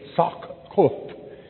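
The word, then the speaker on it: Sakkuth: It is spelled in the Septuagint and other ancient manuscripts, S-A-K-K-U-T-H, Sokkut.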